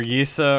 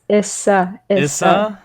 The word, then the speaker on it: Yssa: corn uh or or yisa or yasa or easter you don't even know how to say my name i've said it anyways it's issa jared is so bad